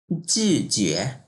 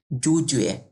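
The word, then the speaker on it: 拒绝: 25 নম্বর, জিজুয়ে। অনেকে এটা এভাবে উচ্চারণ করে জুজুয়ে, এটা কিন্তু ভুল। নট জুজুয়ে, যে ইউ থাকলে জিউ হয়ে যায়, জি। জিজুয়ে হবে এটা।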